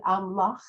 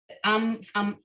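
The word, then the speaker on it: עמך: So you say it amlach, Amcha. Amcha. amchach. Okay. And the one before it too is the same way. Also in 19. Actually, you know what? What? Amcha is what we're saying, right?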